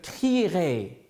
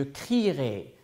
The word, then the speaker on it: crierai: Quand on le conjugue au futur, je crierai, je crierai. Donc, je ne prononce pas le E, mais quand même, il faut l'écrire.